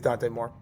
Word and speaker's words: Dante Moore: I think that's how you say it, Dante Moore? Yeah, it's Dante Moore.